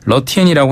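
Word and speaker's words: 乐天: 그 중국어 발음으로는 이제 러티엔이라고 하는데 라쿠텐도 한자로 하면 똑같습니다.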